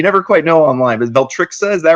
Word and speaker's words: Veltrixa: Is that how you pronounce it? You never quite know online, but Beltrixa, is that right?